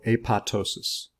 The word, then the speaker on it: apoptosis: typically undergo what's called a pat ptosis that ii P is silent a pat ptosis is